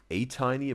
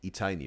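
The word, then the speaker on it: ATINY: Whatever Blackpink is Blink, ATEEZ is A-Tiny, but also one of you guys wrote in the YouTube comments it's not pronounced A, but E. E-Tiny, right? A-Tiny, A-Tiny, A-Tiny, something like this.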